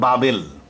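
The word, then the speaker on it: بابل: হিসেবে বাইবেলেও লেখা আছে ব্যাবিলন ইংরেজি উচ্চারণ আরবিতে বলে বাবেল বাবেল কেন বলে বাইবেলে আছে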